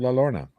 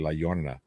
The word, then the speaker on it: La Llorona: The 2019 horror movie called The Curse of La Lorna. It's actually La Llorona, but whatever.